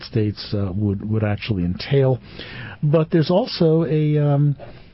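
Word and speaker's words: Uinta: is eluding me here it's UI NTA Basin taran's mind so it's probably uh Unita or something uh welcome John you're going to help me with pronunciation here good morning yeah sure uh my name is Weiss height okay that's and it's enta uh Utah is actually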